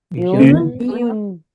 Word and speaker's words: une: Uh, une, Yun. they. they. Good. UNE, please pronounce it again. UNE. It's Yun.